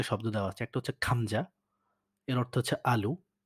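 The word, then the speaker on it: 감자: গিয়ক যদি শব্দের ১ম এ বসে তাহলে এর উচ্চারণ হবে হচ্ছে খয়ের মতো করে, বাংলা খয়ের মতো।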